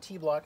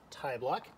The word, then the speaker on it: Tibloc: way it is pronounced t-block not thai block think of the french word for small petit if that helps you to remember the cool thing about